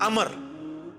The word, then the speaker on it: Amr: लफ्ज ही गलत है लज उमरू तो कोई लफ्ज ही नहीं है लफ्ज है अमर लिखा होता है उमरू लेकिन उसका मतलब वाओ जो है वो साइलेंट होता है और वाव का मतलब यह है कि आपने इसे पेश की बजाय जबर से पढ़ना है उमर की बजाय पढ़ना है अमर तो हजरत अमर बिन